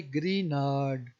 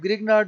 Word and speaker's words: Grignard: करेंगे ग्री नाड रिएजेंट जो जी है यह साइलेंट होगा इसे पढ़ेंगे ग्री नाड रिएजेंट अब ग्रिगनार्ड भी पढ़ ले तो